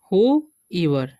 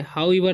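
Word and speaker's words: whoever: अब आगे हम बढ़ते हैं, आगे लिखा हुआ है हु ईवर, ठीक है, इसे पढ़ेंगे हु ईवर, ठीक है, हाउ ईवर नहीं पढ़ना है।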